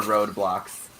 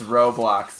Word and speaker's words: Roblox: of grow boxes bro what is the road blocks it's roblox my pronunciations just bad